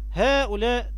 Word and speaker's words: هؤلاء: هؤلاء نفس الكلام، طه في مد بالألف بعد الطاء.